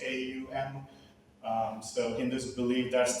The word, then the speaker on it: om: symbol that you see it's called om pronounced Au M um so Hindus believe